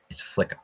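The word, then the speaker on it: Flyka: that but I am actually thankful for it Flicka okay and that makes and she is a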